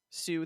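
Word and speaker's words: Sioux: x and is where the s i o u x spelling sue the people comes from like the look on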